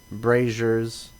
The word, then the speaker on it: brazier: and obviously there's a giant well, not a well, but like a little small pond with 4 braziers.